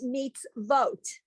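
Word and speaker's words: מצוות: But because there's a vowel under the tsa, even though it's the silent vowel, it's still a vowel. This then becomes a letter with the dot on top. So it becomes mitzvot.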